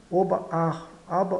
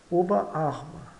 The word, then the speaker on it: Oberarm: português palavras compostas eh sempre que nos depararmos com palavras comp compostas eh devemos destacar bem os elementos da composição Por exemplo essa palavra oberarm n nós pronunciamos obar aba Oba vejamos aqui no